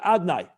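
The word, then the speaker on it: Adonai: pronouncing the yud kavofki how do we pronounce it when we say it every time we say barakat hashem so we pronounce it adnai i just changed the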